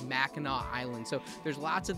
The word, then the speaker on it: Mackinac: it's spelled I think it would be like pronounced like Mackinac is like how it would be read properly but it's Mackinac Island so there's lots of these like Native